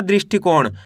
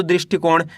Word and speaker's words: दृष्टिकोण: दृष्टिकोण। आपको करना क्या है? इनको दो-दो करके पढ़ लेना है। कैसे? पहले आपको दृष्टि पढ़ना है। इसके बाद कोण पढ़ना है। दोनों को मिला दो दृष्टिकोण।